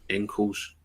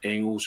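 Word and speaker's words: Engels: dug up yesterday because I called on the angles ankles so I've been I've been told to to get it you up oh d r they missed nothing they missed nothing on this but I I consulted Ryan who consulted Derek Ray I'm told is Engles it's not Engles and I was working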